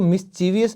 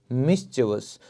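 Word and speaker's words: mischievous: तो एक जो मिस्चिवस, तो दोस्तों इसको मिस्चीवियस नहीं बोलेंगे, वो गलत प्रोनाउंसिएशन है। इसे आप बोलेंगे मिस्चिवस।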